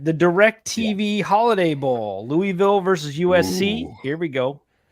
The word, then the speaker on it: Louisville: I'm gonna go with Louisville Louisville cuz that's how it's pronounced okay the tax act